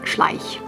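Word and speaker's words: Schleich: or CL SCH or something like that it's pronounced SCH um and um they they're still making these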